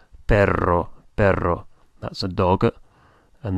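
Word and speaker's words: pero: is b b spell p e r o b that similar to the word for dog but it's only spelled with one R so it's pronounced per for but not per which has got a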